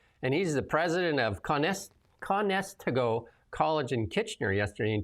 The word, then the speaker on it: Conestoga: Conestoga Conestoga.